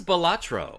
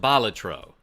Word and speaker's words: Balatro: Yo, Frank Hines, this is Bolatro. I I guess technically it's pronounced Balatro and I've been saying it wrong.